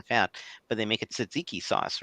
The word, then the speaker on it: tzatziki: But they make it tzatziki sauce, right? So it's a Greek. How do you pronounce it?